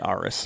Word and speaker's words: Arras: differently but i'm going to say stacy aris because it's a a-r-r-a-s r-s but this is how i would say it this episode is going